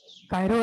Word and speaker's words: chirography: Chirography, Kiro नहीं बोलेंगे, Kiro नहीं, कायरो। chirography, कायरोग्राफी। अब देखो यहाँ पे हमारे वर्ड कितना मिल गए हैं? कायरो अलग मिल गया और ग्राफी अलग मिल गए।